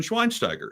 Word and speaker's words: Schweinsteiger: Like, that's how they say it in Germany, but I am not German, and we are not in Germany. So it's Bastian Schweinsteiger. It's the American pronunciation of his last name.